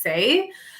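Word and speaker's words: Saie: gonna mispronounce this um it's spelled s-a-i-e so I think it's say um but they have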